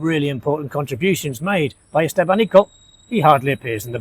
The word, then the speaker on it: Estevanico: The slave, Estevanico, or Estevanico, as it's often pronounced in North America, he became instrumental in the survival of the group.